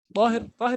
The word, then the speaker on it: Tahir: It's Ta. Tahir is Ta. So the people who say Dahir are wrong. They I don't know. pronounce It is wrong. Tahir. It's supposed to be Tahir. Tahir.